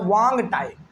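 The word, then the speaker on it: Hoang Ti: एच ओ ए एन जी। नहीं actually इसमें ना एच जो है वो साइलेंट रहता है। तो ये हो जाता है वांग टाई।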